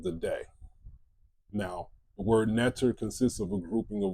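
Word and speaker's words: Netjer: So you see the word netter, N-T-R, which is really ni-ta-ra, netter. The next symbol is that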